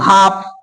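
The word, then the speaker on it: half: सही पड़ता है क्यों हाफ हाफ केजी चीनी हाफ केजी आटा हो गया तो हाफ सही पड़ता है तो पता चल गया कि यहां पर एल क्यों साइलेंट है एल इसलिए साइलेंट है क्योंकि एफ के बाद एल के बाद क्या आ रहा है एफ यानी कि एल के बाद क्या आ रहा एफ इसलिए एल क्या है साइलेंट है तो देखिए इसे भी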